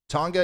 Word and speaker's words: Tonga: you guys want to see it up close tonga is the correct pronunciation woo i got it right um great